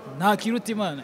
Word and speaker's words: Ntakirutimana: But you can pronounce it like Ntakirutimana.